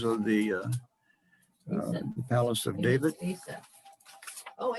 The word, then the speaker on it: Asaph: written by Asaph, whatever the hell you ever pronounce that. Ephes, and he was one of the chief musicians of the Palace of David. Asaph. Oh, Asaph.